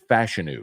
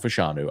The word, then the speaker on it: Fashanu: Penn State offensive tackle is fashion not fashanu I was saying it wrong um so fashu